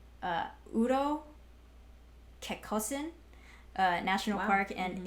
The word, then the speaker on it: Kekkosen: Kekkosen is the Finnish pronunciation. Kekkonen is the Swedish pronunciation.